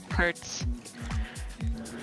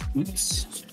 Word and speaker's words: Hutts: Hurts. Actually pronounced Hoots.